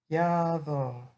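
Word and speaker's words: יבוא: And the pronunciation of this word, like the modern Hebrew pronunciation, ba, ba, and in the future form, yavo, yavo. And this word is used hundreds of times in the Bible.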